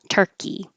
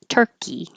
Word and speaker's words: Turkey: Americans pronounce the name of the country the same as the name of the animal. Turkey. Sorry. Turkey.